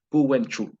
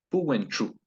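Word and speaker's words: pu wentru: No hay adjetivo, pero son seres vivos, así que puedo decir Puwenchu. Puwenchu. La TR es ch. Ch. No leer nunca como castellano.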